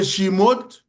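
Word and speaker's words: chmod: So, the shimode that's how we pronounce it.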